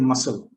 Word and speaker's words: muscle: The letter C is generally silent when it is between an S and a vowel E or I. For example, decent, fascinate, seen, and yes, also in muscle.